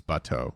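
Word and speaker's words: bateau: throw this out there botto does mean boat in french it's butteau specifically oh okay aang introduces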